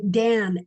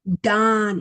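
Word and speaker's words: דן: In English, we say Dan, as an apple, Dan, but that is not the way it's pronounced in Hebrew. And I don't know if you can hear this. Strong's H, 1835. Dawn. It's Don. pronounced dawn, like dawn, like, the dawn of the day.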